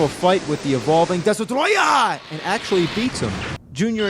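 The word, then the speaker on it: Destoroyah: The name of the monster, surprisingly, isn't Destroyer, it's Destruoia!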